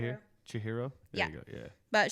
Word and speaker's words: Chihiro: It starts out like Chihoko, right? Is that how you pronounce her name?